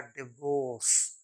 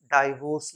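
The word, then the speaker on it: divorce: ओ आर CE actually इसका correct pronunciation होता है डिवोर्स डाइवोर्स नहीं डिवोर्स फिर सी ओ यू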